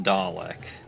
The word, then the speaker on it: Dalek: Though I thought it was pronounced Dalek.